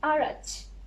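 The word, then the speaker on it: araç: आरच ये था 6. सो इसका प्रोनाउंसिएशन होगा आरच.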